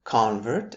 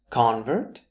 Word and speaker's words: convert: Up next, we have convert and convert. By now, you understand that the function will usually be first syllable noun, second syllable verb. So convert is the noun.